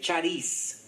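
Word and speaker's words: χάρις: esta idea de Gracia la forma que se pudiera pronunciar en español es eh charis Y la palabra que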